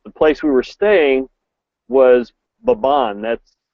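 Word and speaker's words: Mbabane: we were staying was baban that's spelled MB b n e you kind of hum the m and then say baban it's kind of like ban and that's the capital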